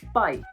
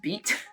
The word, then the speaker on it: bite: see be i te if you pronounce this as beat which I know is a lovely word in French beat but if you put out this is beat you're gonna completely change the context of your sentence so for example